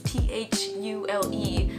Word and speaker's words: Thule: You want to say fuel because it's T-H-U-L-E. But no, it's pronounced Thule.